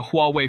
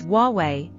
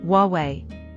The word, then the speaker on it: Huawei: My uncle bought a Huawei phone. That's incorrect. The right pronunciation is Huawei. What? There's no W in Huawei. That's how it's pronounced in Chinese, Huawei.